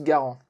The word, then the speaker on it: Garand: Et c'est là qu'arrive un certain John Cantus Garant. Et vous allez voir, il y en a plein des John dans cette histoire, sauf Browning. Donc Garan, et oui, je vais le prononcer à la française est un canadien né en 1888.